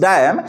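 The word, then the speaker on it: damn: not give a डैम DAM this is डैम एन is silent okay this is डैम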